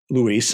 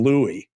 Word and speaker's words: Luis: be talking about today just give me your pronunciation and and what's his long form name luis l UI luis Lazando okay dr phil opened the show and called him Louie the entire show he